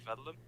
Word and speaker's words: Védelem: you pronounce that exactly so i think actually our pronunciation as we're not originally from hungary uh we're a little bit off but we say vedlum because i think originally